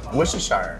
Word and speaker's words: Worcestershire: Oh, like, Worcestershire. Worcestershire. Worcestershire. What did I say? Worcestershire? I think Shire is more British. Shire is more British, but we just don't say it like that.